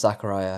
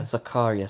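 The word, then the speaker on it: Zakariya: I think I don't think it's actually pronounced Zachariah. I think I put a very Western twist on that. Zachariah? Zakaria sounds about right.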